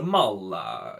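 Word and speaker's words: Maule: is the maul in tier m-a-u-l-e is the mullah you know because once again just have to pronounce the e the worst one so this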